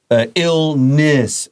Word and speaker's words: illness: So it's illness and excitement.